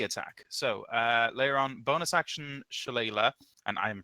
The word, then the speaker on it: Shillelagh: So Leiron, bonus action, Shillelagh, and I am pronouncing that right, you fuckheads.